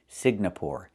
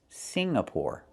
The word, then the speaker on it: Singapore: I cannot pronounce the country Signapore. It's not Singapore. It's Singapore. The NG makes a sound M in your nose. Sing like when you sing a song together. Singapore, not Signapore, but Singapore.